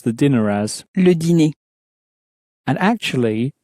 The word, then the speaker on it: dîner: le dîner, and actually, dinner in French also ends in ER, just as these other words do. So it has a similar pronunciation at the end as that cafe-e sound. So the cafe-e at the end of the word, or the ER at the end of a word, both have that A sound in French.